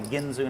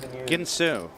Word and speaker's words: Ginsu: can I'm Like a ginso Knife you did this you said this I mean like a Ginsu knife knife analogy Ginsu Ginsu not ginoo if you want to